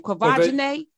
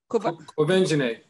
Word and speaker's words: Quvenzhané: but they are doing, except for I can't pronounce her name, Quvenzhané. Quvenzhané. You say it. Quvenzhané.